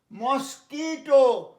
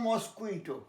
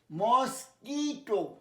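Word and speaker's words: mosquito: মস্কিটো, আমি America আসার আগে পর্যন্ত আমি জানতাম মস্কুইটো, খেয়ালটাকে জানো, মস্কিটো।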